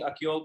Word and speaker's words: Akyol: Am I pronouncing Akyol correctly?